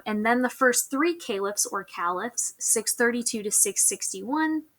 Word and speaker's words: caliph: calips or calips um i think that i think it's supposed to be pronounced caliph but caleb works just as well the expansion under muhammad is our darkest color that's from 622 to 632.